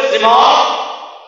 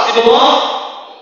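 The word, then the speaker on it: শ্রীমদ্: বলুন শ্রীমদ ভগবত উচ্চারণ হবে শ্রীমদ ভগবত গীতা আবার শ্রীমত ভগবত গীতা অনেকে ভাবছেন আমি স্যার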